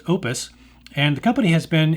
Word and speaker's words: Oupes: heard it pronounced uh oops or upez but for what it's worth it's actually pronounced Opus and the company has